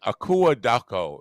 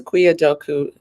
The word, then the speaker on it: Akua Dako: It's a Akuya Doku. No, but it's fine. I have a Uh, joke about it. So Akua Doku. Akuya. Aquia. It's not spelled the way it's pronounced, but that's how the Ghanaians say it.